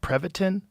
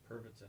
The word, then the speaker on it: Pervitin: Prevatin. Pervitin.